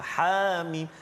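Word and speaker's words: حم: Jadi Hamim ini cara baca dia iaitu ha itu tak ada harakat, mana ha baris atas ha jangan panjangkan, jangan ha jangan panjang, ha tak ada harakat itu, Hamim, ha terus.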